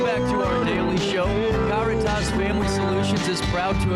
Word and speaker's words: Caritas: And I guess there's also maybe a Spanish pronunciation of it, but we go by the Latin pronunciation, which is Caritas.